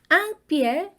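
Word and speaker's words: un: 그래서 반복하는 구조를 빼면 앙띠에 뚜따오 이렇게 되는 거죠 땅이 하나라는 뜻의 부정관사입니다이 앙 발음은요 우리 거 할 때 있잖아요 이 알을 코로 올려서 발음하는 비강모음이 바로 아앙입니다 그래서 이렇게 발음하시면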